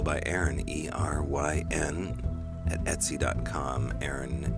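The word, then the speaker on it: Eryn: Aaron is spelled E-R-Y-N. Feral by Aaron.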